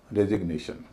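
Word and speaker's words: resignation: अब अगला शब्द रिजाइन से बनेगा रेजिग्नेशन। अब देखिएगा, रिजाइन में जी का उच्चारण नहीं हो रहा है, लेकिन रेजिग्नेशन में हो रहा है।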